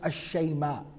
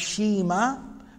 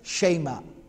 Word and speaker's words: Shayma: The name of this particular sister of the Prophet ﷺ is Ashayma. Ashayma. That's how it's normally pronounced. It can also be pronounced Shima. But the Arabs would usually pronounce it as Shayma.